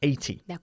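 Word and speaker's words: eighty: okay 18 and 80 we emphasize the second syllable of 18 the the and the first syllable of 80 or CH okay I'm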